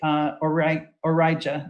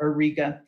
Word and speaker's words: Auriga: Today, we call this star Capella in Greek, Origa or Auriga, depending how you pronounce that constellation.